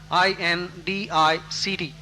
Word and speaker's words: indict: Another antonym for absolve will be indict, I-N-D-I-C-T. In indict, the C is not pronounced, so it is indict or indictment.